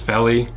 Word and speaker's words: Vellie: The model is the Vellie, but it's pronounced Vellie.